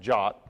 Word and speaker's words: JWT: It's called a JavaScript web token, or JWT, which is strangely pronounced JOT.